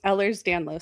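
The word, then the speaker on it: Ehlers-Danlos: How is it pronounced? So, I have hyper mobile Ellers's Danlos syndrome and most people just say hyper mobile EDS because that's a lot easier.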